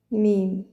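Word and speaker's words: ميم: Ça correspond à la lettre M en français mais dans l'alphabet mim ça se prononce comme ça mim.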